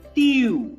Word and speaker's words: tu: Now, if you see this particular letter, or the alphabet U will be pronounced as U, not U, but U. For example, TU, it would be pronounced as TU. Q. Yes, right. TU. Yes, not round like in English what we pronounce as U, not U, but U, slightly, compressing.